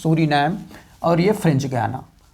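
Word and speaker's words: Suriname: Guyana, this is Suri name, Suri name is pronounced Suri name and this is French Guiana, French Guiana in its spelling.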